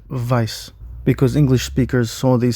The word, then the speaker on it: Weiss: That is the same reason why names like stern and Weiss are pronounced like that in the English because they just saw it written. Whereas these names should be pronounced and vice because English speakers saw